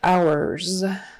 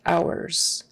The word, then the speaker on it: hours: r kind of hour and the H is silent don't forget no h don't say visiting hows visiting hours and that final s again is pronounced as a z hours vomit oh okay we